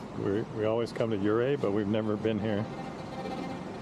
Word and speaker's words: Ouray: But yeah, it's it's pronounced Uray, not Uray.